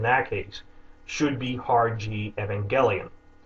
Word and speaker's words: Evangelion: that word the original word and how it's pronounced in Japanese there's no difference in that case should be harg Evangelion saying it in other ways like holding up